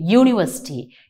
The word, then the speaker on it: university: or an university okay university yeah yeah yeah you yeah is a consonant sound you need to look into the sound and not the letter okay so that uh